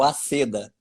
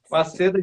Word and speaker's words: Waseda: É na Universidade de Waseda, Todo mundo erra. É o Aceda. Wa- O Waseda, Aceda. Japão. Waseda, Japão.